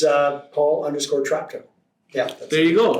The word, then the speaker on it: Traptow: It's Paul_Traptow. Yeah. That's There you go. There. How you spell it?